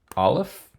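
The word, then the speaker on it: אלף: do a quick recap Olive which is a silent letter bait without the doggish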